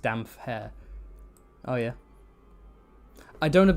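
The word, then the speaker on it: Damphair: you know the whole some people pronounce damp hair as damn fair or some people pronounce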